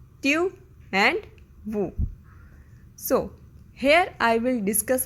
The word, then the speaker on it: vous: But in French, there are two words, tu and vous. Tu and vous.